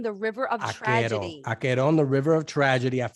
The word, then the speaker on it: Acheron: How do you pronounce Acheron? Yes. Rachel? Yes, it is called Acheron, the River of Tragedy. Acheron, the River of Tragedy.